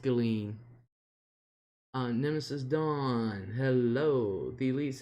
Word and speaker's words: Ghislaine: Yeah, it's pronounced Ghislaine.